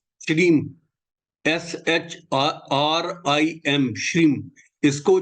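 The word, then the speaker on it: श्रीं: अब सबसे पहले आप ये समझिए कि जो एक बीज मंत्र है श्रीम, SHRIM, श्रीम, इसको जो उच्चारण किया जाता है वो श्रीम किया जाता है, SHREEM, श्रीम।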